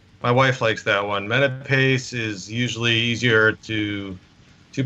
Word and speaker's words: Menapace: wife likes that one Menapace is usually easier to to pronounce but you know growing up like I said it was often mistaken for menopause which I got a